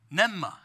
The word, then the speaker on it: pneuma: i think we have how to say it here oh right there nevma is how you say and so jesus uh